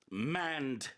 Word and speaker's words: manned: Manned spaceship. Did I pronounce that correctly? 자, manned. Yeah. ED가 붙어요. M-A-N-N-E-D. Yes, and if something is manned, it is being operated or it is occupied by humans.